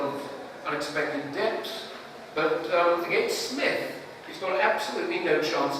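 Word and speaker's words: Psmith: He himself, the P is silent, it's in psalm.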